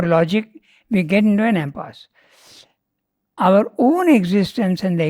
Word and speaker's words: impasse: do you pronounce impasse impasse okay in the French word yeah it didn't Okay